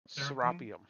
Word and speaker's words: Serapeum: Spell it right. I want to say Serapeum or something, but anyway, by Theodius. Serapeum.